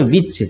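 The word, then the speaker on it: watch: हमेशा पढ़ते हैं इसमें टी साइलेंट क्यों होता है क्योंकि ये च के पहले सी आया हुआ है ठीक ना वर्ड के अंत में सी ह है और उसके पहले सी आया है इसलिए इसको टी को साइलेंट कर दिया जाता है और इसको पढ़ा जाता है वॉच ठीक है स्पष्ट है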